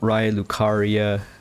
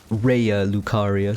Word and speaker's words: Raya Lucaria: we are looking at ray lucaria right now reya lucaria sorry for mispronouncing it all the time looks